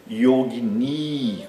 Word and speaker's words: yogini: Existe também o feminino dessa palavra, que é yogini, com I longo no fim. Que, como eu já disse, em geral, as palavras com A longo e I longo no fim são femininas. Né? Yogini tem duas sílabas longas, a primeira e a última. Né?